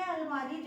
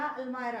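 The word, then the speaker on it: almirah: अब मैं अलमारी जमा रही हूँ, अब किसी ने पूछा तो आप बोलेंगे आई एम ऑर्गेनाइजिंग माई अलमीरा या अलमायरा, अलमायरा उसका वैसे सही प्रोनाउंसिएशन है, हम अलमीरा अलमीरा कहते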